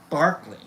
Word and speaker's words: Berkeley: I think it's actually pronounced Barkley.